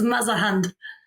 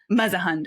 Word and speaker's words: Mausehund: It's Mausehund. Mausehund.